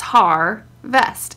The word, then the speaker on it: harvest: It's harvest, and har is actually the accented syllable.